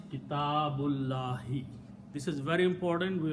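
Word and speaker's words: كتاب الله: small swad on it, which means do not pronounce that alif. So the word is Kitabullahi.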